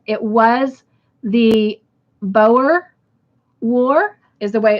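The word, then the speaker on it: Boer: you both got it correct it was the Bower war is the way it's pronounced and it is spelled b-o-e-r so good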